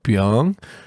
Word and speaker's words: Byung: like uh this guy invented the search engine bing before before yo i raised my hand up i was like oh do you mean byung he's like oh yeah oh that makes more